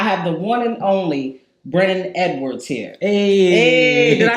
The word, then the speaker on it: Brennon Edwards: I have the one and only Brennon Edwards here.